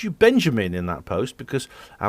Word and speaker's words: Benjamin: She used to, and because my mother was a Dutch woman, and when she was angry, she'd say Benjamin, and that's how you pronounce it in Dutch, Benjamin.